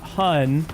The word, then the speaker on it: hon: And it's a hun, like honey, but it's spelled h o n, not hu n, which is how I normally see it spelled.